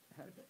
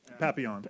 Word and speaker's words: Papillon: Help me with pronunciation. Papillion. Papillion. How do you say it? Papillon. Papillon. He knows things more than I do.